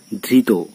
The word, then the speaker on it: ধৃত: প্রত্যয় যোগে গঠিত হয়েছে, এটি এর উচ্চারণ হচ্ছে ওকারান্ত বা ওয়ের মতো অর্থাৎ সংবৃত উচ্চারণ।